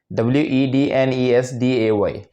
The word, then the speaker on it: Wednesday: Tuesday okay number one w e d n e s d a y is completely wrong Wednesday Wednesday Wednesday okay sambar Monday Monday